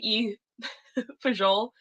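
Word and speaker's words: fagioli: to pronounce the pasta you for Joel I had some fun pronunciation on that one it's spelled f-a-g-i-o-l-i wow oh god um anyway that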